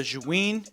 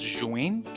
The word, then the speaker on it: Zhiyun: I watched like 4 videos on how to pronounce this, and the most correct answer I saw was Zhiyun, so that's what I'm gonna say.